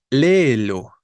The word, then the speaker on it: léelo: Léelo, ¿no? ¿Qué pasa con la palabra léelo? Es una palabra esdrújula, tiene tres sílabas, ¿no? Lo, donde la tónica es la antepenúltima y por eso tendríamos que tildar.